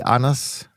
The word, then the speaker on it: Anders: and I'll be honest, I would have pronounced that name with a D without the silent D. I didn't know it was a silent D. I just said Anders. Yeah, okay. It's a soft D, Anders.